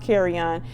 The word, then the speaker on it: Kerrion: not doing it intentionally i think it's pronounced carry on you do not have